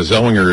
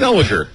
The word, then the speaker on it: Zellweger: Zellweger. Is that Zellweger? Yeah. No, there's... All right, let's hear Renee you. Zellweger. There's a W. Clearly a W.